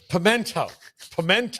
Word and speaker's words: pimiento: And Paul, how do I pronounce pimiento? It's pimento.